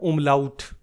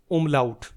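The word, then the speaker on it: Umlaut: और उ के ऊपर इन दो डॉट्स को फ्रेंड्स बोलते हैं हम उमलाउत। उमलाउट।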